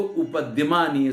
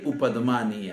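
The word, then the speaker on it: उपध्मानीय: सदृश है, तो इसको उपद्यमानीय संज्ञा मिलती है। उपदमानी, उपद्यमानी नहीं, उपदमानीय है वास्तविक उच्चारण।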